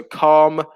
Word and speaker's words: calm: have been mentioned so calm with a silent l camera with a silent